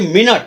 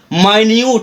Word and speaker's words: minute: एक एग्जांपल और देखिए, जैसे MINUTE, इसको हम यहाँ पर उच्चारण करेंगे मिनट, मिनट का मतलब होता है क्षण, और इसके नीचे MINUTE माइन्यूट, इसका उच्चारण यहाँ पर करेंगे माइन्यूट, और माइन्यूट का मतलब हो गया सूक्ष्म।